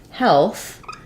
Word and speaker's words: health: in health EA um even though in heal it follows the rule of the EA saying the E heal sounds the same as heal in health it changes um like it does in wealth to the F vowel so Health has the